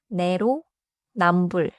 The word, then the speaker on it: 내로남불: 답정은 받침 비읍 뒤에 지이 오면 지이 된 소리처럼 나서 답정에 가깝게 발음해요. 내로 남불은네 글자지만 두 덩어리로 나누면 쉬워요. 내로 남불.